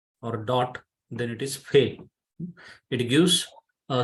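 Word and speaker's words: פ: is no dagesh or dot then it is fail it gives a sound in phone uh ph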